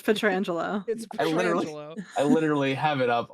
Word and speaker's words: Petrangelo: petrangelo does patang stop I have Google up right now it says how to pronounce it and I listen to that right before I said it and that's what Google said it's incred wrong 100% according to google anyway I'm telling you it's petrangelo I literally have it